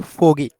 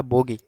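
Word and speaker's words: 보기: 187 নাম্বারে দেখতে পাচ্ছি ফোগী ফগি মানে হচ্ছে উদাহরণ এখন অনেকে বলবেন এটা বোগি কেননা বোগি হবা না কারণ বিয়োব যদি শব্দের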